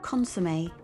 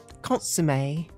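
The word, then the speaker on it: consommé: consume a yeah consumed in the UK it's pronounced consomme consomme okay and onion and down no he's trying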